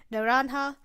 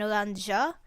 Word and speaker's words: naranja: As an exchange, listen, they should keep with the fruit names, naranja, orange, and uva, grape. Also, I'm very embarrassed to say that I've been pronouncing naranja as an oranja, as in pronouncing the J.